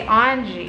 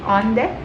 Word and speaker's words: onde: And then we also have onde, which is where, but we don't say onge or onge. It's like how Portuguese pronounce it, but we just say onde, the Spanish phrase.